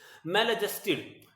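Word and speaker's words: maladjusted: Next word है मेल एडजस्टेड, एडजस्टेड नहीं बोलते, एडजस्टेड बोलते हैं, डी का साइलेंस प्रोनाउंसिएशन नहीं करते जब वो ए और जे के बीच में होता है। मेल एडजस्टेड, तो मेल एडजस्टेड क्या होता है?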